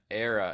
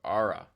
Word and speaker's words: ARRA: Sorry, I just realized that I was calling it era instead of Ara. It's a right. Yes, because in Mexico the a it's pronounced as a so it is called ar.